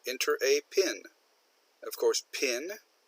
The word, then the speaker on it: PIN: Of course, PIN, we pronounce it like a word, stands for Personal Identification Number.